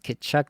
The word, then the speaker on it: Tkachuk: We get both Tkachuk brothers. Notice I got the Tkachuk phrasing correct. Not phrasing, pronunciation. That's the one we're going for. Got Tkachuk on the brain. I can say it correctly. Yeah, Tkachuk and Makar on the turn feels really nice.